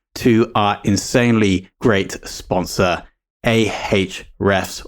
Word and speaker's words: Ahrefs: our insanely great sponsor, Ahrefs, or Ahrefs, as the name should be pronounced.